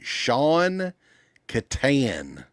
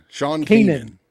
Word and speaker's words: Sean Kanan: Sean Kanan, there you go. Yeah. Sean Keenan. Keenan, yeah. I think that's how you pronounce it. I don't know why, because it's not spelled that way, But anyway, his dad